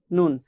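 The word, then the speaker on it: ن: এ পর্যায়ে আমরা যদি দেখি 9 নম্বর মাখরাজ এখানে দেওয়া আছে, জিহ্বার আগা তার বরাবর উপরে তালুর সঙ্গে লাগিয়ে একটি হরফ পড়তে হয়, সেটা হচ্ছে নুন।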